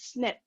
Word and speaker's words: SNP: polymorphism or snip now the snp we pronounce it as snip if this change is